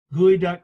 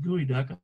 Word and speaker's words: geoduck: get things such as gooey duck clams i know it's spelled geoduck but everybody pronounces it gooey duck i don't know why